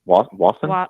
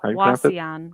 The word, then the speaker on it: Wauseon: I booked the Magnuson there in how do you pronounce the name of that town? Wasson? Wauseon.